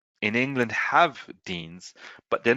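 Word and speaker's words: Dienes: in England have Deans, but they're not widely used.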